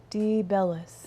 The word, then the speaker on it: DeBellis: DeBellis. Teresa. Like the bell.